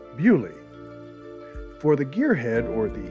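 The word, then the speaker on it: Beaulieu: england's national motor museum in the village of boilie or as the locals say bully for the gearhead or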